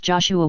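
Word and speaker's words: JOSH-A: its full name was though it is pronounced Joshua was the alliance's current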